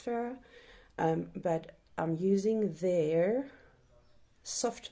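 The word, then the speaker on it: Phoera: Yes, I'm using Farah's, I think you pronounce it Farah, it's P-H-O-E-R-A, so I think it's Farah, but I'm using their soft matte longwear liquid foundation, and it is brilliant.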